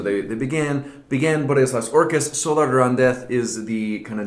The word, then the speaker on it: Solar de Randez: Solar de Randez, actually, if you pronounce it in the local idiom.